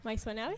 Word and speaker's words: Maissonave: Estamos con Marcelo Maisonave. ¿Maisonave se pronuncia así? Sí, perfecto. Ok.